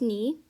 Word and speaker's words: knee: have is knit and you pronounce it as n-i-t the k is silent obviously um okay so